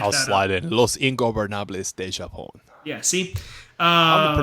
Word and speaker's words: Los Ingobernables de Japón: Naito, Takagi are part of the Los Ignorables de Japón. I know I jacked that up. I'll slide in. Los Ingobernables de Japón.